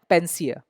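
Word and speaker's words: panacea: ये एक नाउन है, पेंसिया। अभी इसका उच्चारण उसके स्पेलिंग से थोड़ा अलग है।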